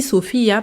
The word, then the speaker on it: Sophia: Et je dis Sophia parce que bon, j'ai pas trop l'accent espagnol, latino et cetera, mais je le prononce comme ça. Je dis pas juste Sopia, c'est vraiment Sopia parce que Sopia est latina donc ça fait plus sens de le prononcer comme ça.